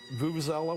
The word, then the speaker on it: vuvuzela: Number two, Vuvuzela, whatever the heck it's called. Yeah. Thank you for pronouncing it correctly.